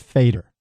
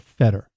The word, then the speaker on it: Feder: files f d r the German word pronounced fader all right not Fetter all my life people call